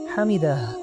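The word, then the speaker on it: حمده: তাই রুকু থেকে ওঠার সময় বলতে হবে সামি আল্লাহু লিমান হামিদাহ। কিন্তু সামি আল্লাহু লিমান হামিদা সঠিক নয়।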